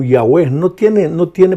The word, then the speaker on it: Yahweh: como Jehová en realidad en hebreo la palabra Jehová solo tiene consonantes no tiene vocales Tal vez porque los judíos Se sentían indignos de pronunciar la palabra de Dios Entonces Dios se identifica en realidad como Yahweh no tiene No tiene